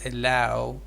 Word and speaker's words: allow: And also you said allow, but it is allow. Allow. Yes, allow. Exactly. Ow. It's a diphthong. It has two vowels, one after each other.